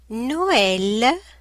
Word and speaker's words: Noël: And when you find it, you have to pronounce each vowel separately. E, Noël, Christmas.